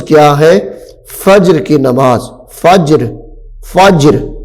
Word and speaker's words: فجر: فجر کی نماز. فجر فجر جیم کے اوپر جزم ہے تو اس لیے جیم ساکن ہے تو کیا کہیں گے؟